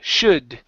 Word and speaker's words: should: should it's uh sh should should okay so uh here you're pronouncing the O and the O you're saying show show show is this word showed